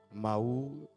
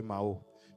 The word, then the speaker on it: Mahou: J'ai bien prononcé, je crois que cette fois-ci, Mahou, je disais Mao.